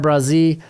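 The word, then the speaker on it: Bresee: I got Brian Brazee out of Clemson. If you've got a problem with pronunciation, take it up with Clemson's freaking roster page.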